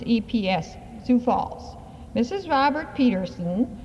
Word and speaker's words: Epps: Robert Peterson, 1600 South Van Epps. I believe that's pronounced, it's EPS, Sioux Falls.